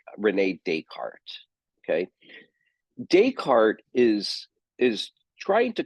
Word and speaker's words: Descartes: Descartes, and let me just drop his name in here real quick. It's kind of spelled funny, but it looks like Descartes, but his eyes pronounced Descartes.